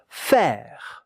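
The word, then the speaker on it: faire: Fair. Fair. With the French R at the end.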